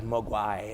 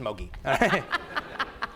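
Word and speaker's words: Moguy: And I thought it was Mogwai, and then Pierre Ricci, no, it's just Mogi.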